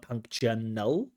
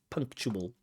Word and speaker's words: punctual: punal like punctual punctual so there's no n at the end there it's not punctal but it's punctual everyone needs to be